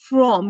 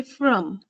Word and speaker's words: from: So you don't say from, you say from.